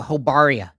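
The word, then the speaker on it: Jobaria: So, Hobaria. So, J O B A R I A. Why is it pronounced like Spanish?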